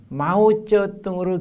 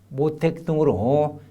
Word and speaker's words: 마오쩌둥: 중국 본토 이름을 중국식으로 발음해가지고 나오는 그 발음 그대로 기재하는 것이 원칙이다. 그러니까 마오쩌둥이라면은 마오쩌둥으로 기재하는 것이지 이걸 한자 이름 그대로 읽어가지고 모택동으로 기재할 건 아니다라는 것.